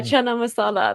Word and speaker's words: chana masala: Chana Mas how do you say that yeah chana masala that's not even British that's that's that's Indian